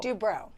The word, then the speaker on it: Dubrow: Dubrow.